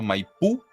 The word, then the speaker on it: Maipú: Corrígeme, Nat, si me equivoco, pero bueno, según entiendo, Maipú, que se escribe tal cual así, con acento en la U, es en las periferias de la capital chilena.